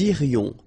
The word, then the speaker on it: irions: Nous irions, final S not pronounced. Nous irions.